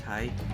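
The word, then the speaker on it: haigh: personally though I prefer hi which is h a i g h pronounced hi which means hi um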